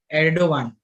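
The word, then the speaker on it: Erdoğan: Okay, Mr. Erdogan. Okay. The G is actually pronounced as W.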